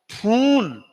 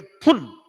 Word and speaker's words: फुल: एक तो बोलते हो फूल, एक है फुल। अब इंग्लिश में एक तो फुल एक फूल, तो उच्चारण कहाँ ह्रस्व और कहाँ दीर्घ, तो कितना बड़ा अंतर आ जाएगा। फुल पूर्ण और फूल मूर्ख है।